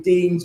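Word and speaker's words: Dienes: So I've mentioned about um I've mentioned about the deans the base 10.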